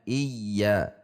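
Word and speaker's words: إِيَّا: Iya tidak boleh dibaca iya dipanjangkan juga tidak boleh dibaca i ya ij dihentak sehingga harus dibaca iya selanjutnya iya dua harakat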